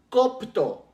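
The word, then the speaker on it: κόπτω: vez se deriva de otra palabra griega que se llama copto copto igual con k y con acento en la primera o que dice el el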